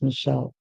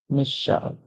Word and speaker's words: Michelle: and all that um the most popular pronunciation is Michelle but hence um because it is a name remember that names they can be pronounce different and persons can choose the pronunciation that they want our next word is